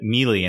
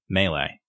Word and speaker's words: melee: play all time strike and people will say Mee and it I'm like Mee is a worm